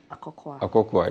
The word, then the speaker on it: Akokua: Akokua, yes.